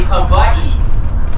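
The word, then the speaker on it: Hawaiʻi: w like white key if it's anywhere after that first letter the correct way of pronouncing it is like a V so the correct way of saying Hawaii is actually Havi and then there's an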